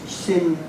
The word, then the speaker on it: Xin: And then her given name breaks down into two main syllables, Xin and Chun. And these are made up, first of all, of the initial X, which is Sh and In.